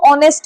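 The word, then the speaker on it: honest: इसमें देखो ऑनेस्ट में है तो कंसोनेंट लेकिन साइलेंट है। साउंड वोवेल की आ रही है इसलिए एन लगेगा।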